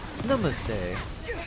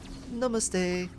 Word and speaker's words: Namaste: way to pronounce it short a short A's ah okay Namaste okay I see so more like yeah more like 's rather than A's Namaste and not NuMe the more you know